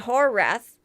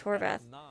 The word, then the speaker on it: Horvath: I've been saying your name wrong. Oh, now, but, Yeti says people say it Horrath, which sounds bad, but Apparently the Wrath correct is not good pronunciation is Horvath.